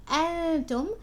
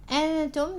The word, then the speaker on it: أنتم: Now with again you can see as is the hamza present here, so make sure you're pronouncing it. You're saying أنتم. أنتم, the noon has إخفاء, so make sure you're pronouncing the إخفاء correctly.